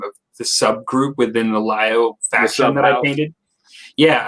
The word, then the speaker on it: Liao: Not to digress, but I kind of taken a little interest in your Lao videos because it's Lao, right? It's pronounced for the faction, Liao, L-I-A, Liao, because that's kind of my faction too.